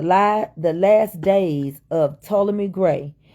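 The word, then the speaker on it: Ptolemy: the last days of to me gray the p is silent that was was Cleopatra's daddy's name PT o l e m y toally me gray that was the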